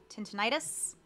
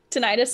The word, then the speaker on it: tinnitus: um very similar to i'm gonna say it wrong tentinitis tinnitus tinnitus um it feels like